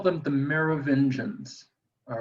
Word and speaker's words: Merovingians: da vinci code uh tom hanks mispronounces this twice he calls them the merovingians and it's not the mayor of indians it's the mayor of engines but nobody asks me